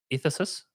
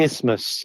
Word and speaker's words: isthmus: Is it Ephesus, they call it? Something like It's that. an isthmus. An isthmus. It's pronounced.